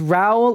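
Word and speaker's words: Rou: whole name wrong there it's Ral like cow not Ru like moo okay this 14-day UK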